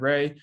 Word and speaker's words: Reay: on facebook at ed ray e d r e a y um last name pronounced ray like stingray um and you find